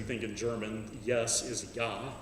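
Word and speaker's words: ja: in german yes is yah it's spelled j a the j is pronounced as a y so it's a it's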